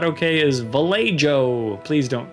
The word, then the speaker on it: Vallejo: insisted on calling this vallejo on the stream even though i don't think that's how it's pronounced in america but he says it's a spanish name it should be pronounced spanishly i disagree but that's